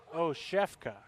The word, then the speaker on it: Oshefka: But I believe this is pronounced Jeff Oshefka.